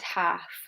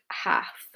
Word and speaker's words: half: Okay, so here we have a vowel in the middle of the word, followed by the letter L. Notice it's only the vowels O, U, or A with this rule, not all the vowels.